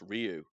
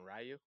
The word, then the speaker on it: Ryu: how are you going rayu no have you have you heard how Japanese people actually pronounce it it's like it's almost du almost yeah CU they don't pronounce the Y very this is freaking dope